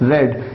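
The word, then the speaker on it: read: आपको ध्यान देना है, स्पेलिंग सेम होती है सेकंड और थर्ड फॉर्म की, लेकिन प्रोनाउंस करने का तरीका डिफरेंट होता है। आप प्रोनाउंस करते हैं रेड, रेड, जैसे रेड कलर।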